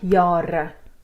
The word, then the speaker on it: jare: But here, because it's on an open syllable, you also have a long A, although it's only one A, not two. So the syllables help with spelling as well, that you know if the vowel is on an open, like jare, two syllables, ja.